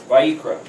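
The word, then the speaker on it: ויקרא: Vayikra.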